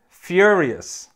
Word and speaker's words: furious: now let's look at a very similar word furious furious this means very angry and again the first syllable has that same unique sound there's a